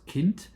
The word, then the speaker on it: Kind: And you also have the yeah German word for instance kint which is exactly pronounced as it is written and that means child.